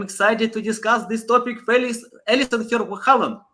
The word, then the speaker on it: Alison Ver Halen: Alison Ver Halen. How are you? Oh, sorry for pronouncing your name. Yeah, no, Yeah, for it's me. Alison Ver Halen.